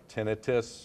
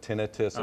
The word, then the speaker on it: tinnitus: be pronounced either way tinnitus or tinnitus medically today it's preferable to pronounce it tinnitus it's not an actual itis is what it doesn't